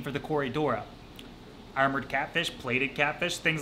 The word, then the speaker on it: Corydora: When you think about Corydora, the name, what do you kind of think? I kind of think like it rhymes with Dora the Explorer, Corydora.